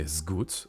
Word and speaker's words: Sgauth: euh alors déjà c'est s Go euh ça se prononce voilà comme si comme si c'était un Z à la place du S euh ça vient de